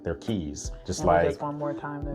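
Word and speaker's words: Caye: So, us Americans think that's the way it's pronounced, but it's Key.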